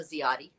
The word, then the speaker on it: Ziade: cities within broward county they know how to pronounce my last name they know i'm a zioti but because i'm that i am that voice